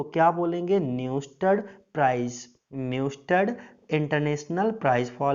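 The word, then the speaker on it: Neustadt: इसका थोड़ा सा प्रोनाउंसिएशन टफ है, मैं एक बार फिर बोल देता हूँ, ध्यान से सुनिएगा। न्यूस्टड प्राइज फेदर, इसमें क्या होता है, एक पंख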